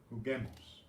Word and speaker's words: juguemos: Juguemos. We want to preserve the hard G's, so we use that silent U before E and I.